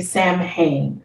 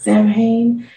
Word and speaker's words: Samhain: with it being spelled you would say samhain it is not champagne um it is called samhain so it's actually halloween